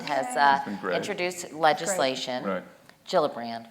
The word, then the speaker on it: Gillibrand: uh my Senator Kirsten gillibrand has uh introduced legislation Jill brand right I said her name wrong sorry Pearson but anyway